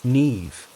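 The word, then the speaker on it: Niamh: Nev, she said, pronounced nev. A rare name, Irish.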